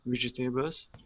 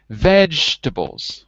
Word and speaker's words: vegetables: of vegetables wait wait this is one of those words where we don't say every syllable listen to me vegetables repeat vegetables right not vegetables but vegetables just like we say comfortable not comfortable comfortable vegetable vegetables good he painted a